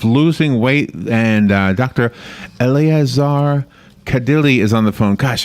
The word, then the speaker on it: Kadile: Eleazar Kadile is on the phone.